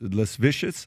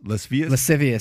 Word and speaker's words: lascivious: you pronounce that word less less vicious lascivious lascivious what is it what does